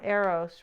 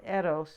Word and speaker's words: Eros: is and so uh here we have uh arrows right or Eros is really the right way to say it but this is a